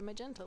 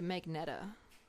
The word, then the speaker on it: magenta: or blacks on the magenta layer. Actually, I used to call magenta Magneta, which is weird because it's not even spelled like that, but sometimes I guess I just don't read the whole thing.